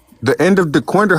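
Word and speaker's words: Dequindre: The end of the quinder. How you think it's spelled? Uh Lopez. The quinder.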